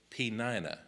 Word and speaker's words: Peninnah: The other one was Peninnah. Now, that's not how I would have said it, but I checked 2 or 3 sites. So Hannah and Peninnah were the 2 wives that he had.